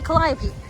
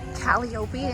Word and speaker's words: calliope: i'm gonna find the calliope I always want to say caliope instead of calliope I think it's because my mom pronounces cantaloupe as cantellope here's a calliope it